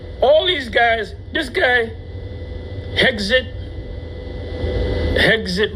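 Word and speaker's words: Hegseth: All these guys, this guy, Hexit rhymes with exit.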